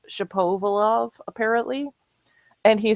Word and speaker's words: Shapovalov: And I thought it was so cute because it's Shapovalov apparently, and he said the first part is like the French word for hat, chapeau, and I'm like, this is awesome.